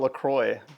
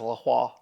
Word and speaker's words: LaCroix: I've always called it LaCroix, but my dad says LaCroix. I think about like St. Croix, the island in Virgin Islands.